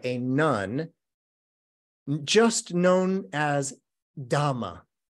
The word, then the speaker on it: dhamma: this is a poem by a nun just known as dhamma which is the poly pronunciation of Dharma so it was a